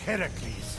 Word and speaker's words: Heracles: Phoenix, after boldly besting the Gorgon that ambushed Heracles.